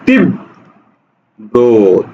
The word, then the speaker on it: তীব্র: আচ্ছা তাহলে কি হবে শব্দের শেষে ব ফলা আছে র ফলা আছে সুতরাং উচ্চারণ হবে তিব ব্র তীব্র কোথায় আছে এটা